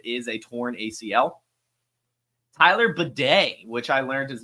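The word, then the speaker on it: Badie: Tyler Bidet, which I learned his name is pronounced Bidet in yesterday's broadcast.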